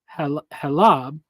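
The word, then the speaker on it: חֵלֶב: oil of the olive, as opposed to the heleb fat of animals, which is pronounced as halab, which is pronounced as halab, is also used for the fat of milk and the whiteness of milk.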